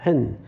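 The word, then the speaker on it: ἕν: 한 글자예요. 헨. 물론 스펠은 한 글자가 아니지만 이제 발음은 한 글자예요.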